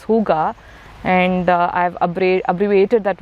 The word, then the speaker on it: Hooga: to the Indian context so the word is pronounced as Huga and I've AB abbreviated